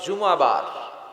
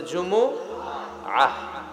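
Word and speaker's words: جمعة: অনেকে বলে ফেলে জুমা, জুমা। আসলে আরবিতে শুদ্ধ উচ্চারণটা হচ্ছে জুমুআহ, সূরাতুল জুমুআহ।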